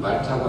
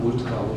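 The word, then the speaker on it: Malta: 스펠링은 M-A-L-T-A, 말타인데 영국 식민지였던 영향으로 영어권에서는 말타가 아니라 몰타라고 불려진답니다.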